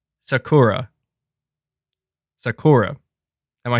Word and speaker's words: Sakura: Sakura, and say it fast with enunciation.